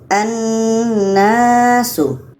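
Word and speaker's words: الناس: Kalau kita baca menjadi annasu annasu kebetulan nun sydah hukumnya adalah wajibul ghunah. Wajib kita dengungkan. Jadi kita baca dengan annasu. Annasu lamnya tidak kita baca.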